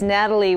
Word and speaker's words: Nathalie: And it's Nathalie with an H snuck in there. Yes. Yep. The H is silent. Okay, very good. Nathalie, thank you.